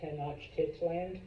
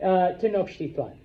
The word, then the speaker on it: Tenochtitlan: You don't need to say it right, but just don't call it Tenochtitlan. No, I've had smart-ass students. It's Titland? No, it's not Titland. All right? Tenochtitlan.